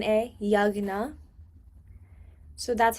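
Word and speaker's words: यज्ञ: A G N A Yagna. So that's how you would pronounce it. Like you don't pronounce the J. It would make more of like a G sound. So it would be Yagnad.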